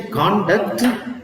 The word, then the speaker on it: conduct: on the first syll here the stress is on the second syll now what do you mean when you have the stress on the first C conduct conduct is a behavior behavior of a person characteristics Behavior you may